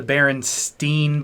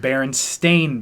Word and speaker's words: Berenstain: the berenstain bears man people believe it's the Berenstein bears no care anybody says DISA Berenstein bears the reversion it is actually pronounced berenstain bears no there's no now no now no